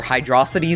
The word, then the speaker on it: Hydrocity: I actually like Hydro City zones, or Hydrocity zones, whichever you prefer to pronounce it as. Hydro City is the actual pronunciation.